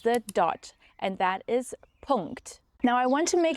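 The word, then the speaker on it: Punkt: the NK correctly here the German NK or so-called Ang loud is a nasal sound and it's produced by placing the back of the tongue against the soft pellet and letting air flow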